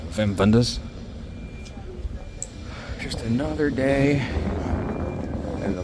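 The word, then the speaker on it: Wim Wenders: like this film called Wings of Desire by wiim wers or how the Germans pronounce it the correct way Vim venders just another day in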